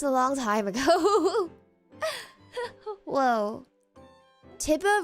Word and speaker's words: Tiber: Tiber rhymes with Tiger.